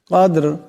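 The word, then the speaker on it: قدر: আনজালনাহু ফি লাইলাতিল কদর কদর এখানে দাল সাকিন দাল কলকলার হরফে টক্কর খাবে আবার এখানে দম সাকিন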